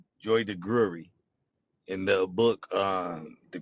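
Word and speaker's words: Joy DeGruy: He he mispronounced her name, but Joy de Gury in the book uh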